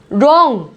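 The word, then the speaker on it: wrong: ये है रॉन्ग, रॉन्ग, W यहाँ पे साइलेंट है, रॉन्ग।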